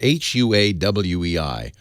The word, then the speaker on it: Huawei: time ever they were going to start selling Huawei phones H by the way no one knows how to pronounce it hua WEEI Huawei all excited about selling this phone in